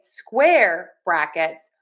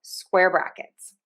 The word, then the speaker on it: square brackets: But then we say square brackets. We are going to make sure that we stress syllable number one. Square brackets.